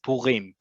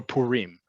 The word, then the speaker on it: Purim: but just know that in modern hebrew it's purim okay or purim either way the accent like we've talked about many times is on the last syllable not on the second to last and it's a long vowel there's a reason why